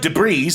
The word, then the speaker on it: debris: at that yes so debris spelled D e b r i s but the S is silent coming from the say